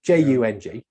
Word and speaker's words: Jung: This is the sort of the 10-minute version of how we can take Jungian, Carl Jung, Jung, I can never say it properly, Jung, yes.